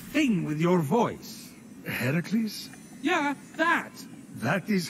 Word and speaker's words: Heracles: doing there that thing with your voice a heracles yeah that that is how it's supposed to be pronounced seems like a lot of work but